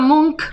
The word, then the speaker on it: Munch: lo he titulado mucho ellos llaman monk vida porque es la ch es un dígrafo y también en alemán